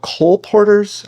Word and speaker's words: colporteur: The I think they're called colporteurs.